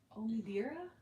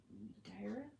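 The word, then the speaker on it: Omidyar: Omidira? I Omidira? No, it's not dear. It's Dira?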